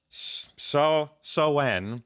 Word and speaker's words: Samhain: Names, how to pronounce them. Sowan.